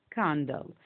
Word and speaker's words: candle: Okay, to complete this word, I put the letter L, then the letter E. E silent, لا تلفظ. This word is candle.